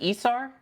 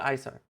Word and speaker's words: Isar: We've got, was it ESAR? Or is it ISAR? No, ESAR's right.